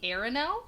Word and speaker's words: Arinelle: So it's called Flight Down the Arinelle. Yep. Right? That's how you pronounce it?